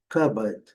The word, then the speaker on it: cupboard: Aqui o armário, cristaleira, aqui letra R não é pronunciada, então a pronúncia aqui, primeira sílaba, a sílaba forte, cupboard, cupboard. Aqui eu lembro, essa letra tem o som do né? Então, cupboard. E aqui, cupboard, cupboard. É o armário.